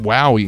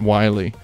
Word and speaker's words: Wily: It is pronounced Wowie, not Wily.